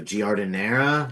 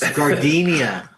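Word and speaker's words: giardiniera: I just didn't know that it had I don't know how to pronounce it though. Gordonara.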